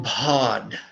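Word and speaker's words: padme: Now it's not pots like attack, it's pod like a dog. D-D-D. And it's like the Spanish word for father, which is, well, the Spanish word padre, which means father. That's the same syllable.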